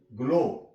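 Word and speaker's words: glow: तक इसकी साउंड लेंगे ग्लो जी एओ डब् ग्लो यहां प भी डब्लू आ तक इसकी आवाज ले ग्रो जी आर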